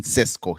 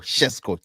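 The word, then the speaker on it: Šeško: Welcome to yet another Benjamin Cesco, Chesco, Chesco, depending on how you want to pronounce it right here on Sports Jazz.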